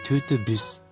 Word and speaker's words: TOOT BUS: たんですが、これでトゥートゥブスと読むそうです。